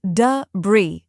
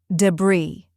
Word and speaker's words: debris: debris but the correct way is Du Bri just two syllables let's break it down du this part is soft and quick like the D in depend Bri this part is strong and clear rhyming with tree or free now let's say it